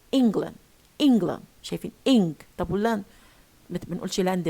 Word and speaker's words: England: word we distort the whole word we spoil pronunciation. we say England شايفين طب واللاند بنقولش لاند بقى لاند لا بقت weak.